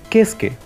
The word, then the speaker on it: Keisuke: Bueno, a excepción de Keisuke, que su pronunciación en japonés es Kesuke, algo parecido. Pero dicen Keisuke.